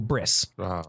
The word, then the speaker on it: bris: are certainties that the the Eastern European or the European Ashkenazi Jews pronounce certainties as s's mm-hmm so the technical Hebrew is breat Mila okay I'm the company no the Covenant but the Ostrom changes breat to bris okay so I just